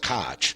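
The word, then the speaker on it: Koch: Around this same time, 1884 to 1890, sensing the quackery of foot, Robert Ko, or some pronounced cotch, saw the same obvious flaw you see, and came up with Ko's postulates.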